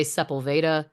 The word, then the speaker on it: Sepulveda: There's also Sepulveda, but people say Sepulveda.